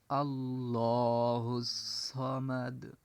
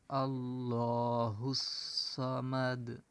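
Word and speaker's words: اللَّهُ الصَّمَدُ: আল্লাহুস সামাদ এভাবে উচ্চারণ করতে হবে। আল্লাহুস সামাদ।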